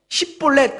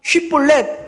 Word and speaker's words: 쉿볼렛: 그러면 만약에 쉿볼렛 그러면은 팍 쳐 죽이는 거예요. 에브라임 사람들은 이 SH 발음, 이렇게 쉬라는 발음이 안 됐었거든요. 그러니까 쉿볼렛 하라고 하니까 쉿볼렛 팍 죽이는 것이죠.